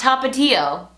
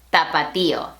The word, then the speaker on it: Tapatío: And as you can see, there's an accent on that I, and that lets you know that that is the stressed syllable.